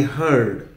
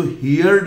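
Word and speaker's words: heard: हियर होता है, लेकिन जब डी लग गया तो इसको हियर्ड नहीं बोलेंगे, इसका प्रोनाउंसिएशन हो जाएगा हर्ड।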